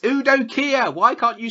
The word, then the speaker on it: Udo Kier: It's Udo Kier. Why can't you say his name? Because I said it like that because I did it on purpose. Udo Kier.